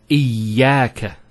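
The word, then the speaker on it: إياك: Iyaka. Notice the ya gets a double vowel because of the shadda there.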